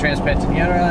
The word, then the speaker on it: Transpantaneira: now we're on the road heading towards the Transpantaneira. Is that how you say it? Yep. Yeah, now we just need to get to the beginning of the Transpantaneira, and then the road should probably get more slow.